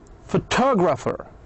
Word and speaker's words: photographer: Since we add e rer, the stress moved from faux to two. Photographer.